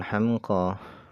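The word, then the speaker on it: حمقى: Hamqa di sini cara bacanya adalah bi fathil ha, dengan dibaca fathah huruf haknya, wa sukunil mim, dan dibaca sukun mimnya. Hamqa wa bil qasri, dan dengan dibaca pendek.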